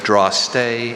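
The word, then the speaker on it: drostdy: The old Cape Colony records indicated which draw-stay the land called the Parle was under. May I have the part of speech? Noun. Are there any alternate pronunciations? There's draw-stay and draw-stay.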